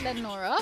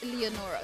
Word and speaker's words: Leonora: I always like to remind you, the folks who live here call it Lenora, but the correct pronunciation is Leonora.